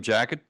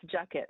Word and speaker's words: Jackett: introduce and welcome Miriam Jackett. And if I didn't pronounce that right, please turn on your mic and tell us, tell me where I'm wrong. Very close. It's Jucket. It rhymes with bucket.